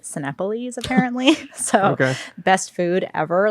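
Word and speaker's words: Cinépolis: Yes, but it's like a Mexican theater chain, and it is like I thought it was Cineopolis for the longest time, but it's pronounced Cinepolis apparently.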